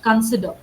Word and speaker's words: consider: The e sound will be very short. Consider consider.